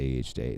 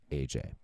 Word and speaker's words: AJ: I always say EHJ literally every fucking time. And I don't even know why. It's literally, that's what his name is in my head. But his name is actually pronounced AJ.